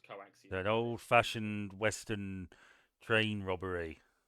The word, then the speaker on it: coaxium: thing yeah it's called coaxium yeah spelled cium pronounced coaxium an oldfashioned Western Train Robbery yep um and